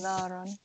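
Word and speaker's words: نارًا: Oh, naran. So I forget the alif or naran. Alif is silent, ignore it. Okay.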